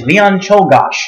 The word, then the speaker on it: Leon Czolgosz: Okay, so the second assassin who actually managed to kill the president, who gets his own ballot, is Leon Czolgosz. Who That's how you pronounce that, by the way.